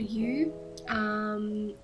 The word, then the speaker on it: Yu: a little bit easier, it ended up sounding like a U, which can get confusing, but it was my choice.